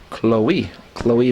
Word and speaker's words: Chloe: So checking in here for Schroon Lake is Chloe McKenna checking in. Chloe McKenna. Yeah, I make that same mistake. Like Zoe and Chloe, even though it doesn't look like it, that's how they're pronounced.